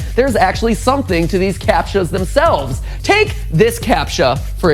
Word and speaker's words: CAPTCHA: protecting the act clue with a CAPTCHA, that's how it's said.